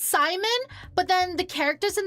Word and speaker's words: Simon: the game calls it Simone. I thought it was Simon. It is Simon. Like the way the name's pronounced and spelled is Simon, but the voice actors calls him Simone.